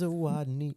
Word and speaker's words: Zawodni: It's Zawodni.